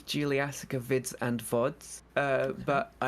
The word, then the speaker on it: Juliassacre: Juliassacre.